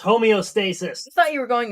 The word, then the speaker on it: homeostasis: We call it gay, Heather, because you're trying to reach homostasis. Sure, Bronny. Sure. Interesting. It's pronounced homeostasis.